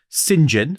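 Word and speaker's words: St John: John, but pronounced St. John, which is the way you do it.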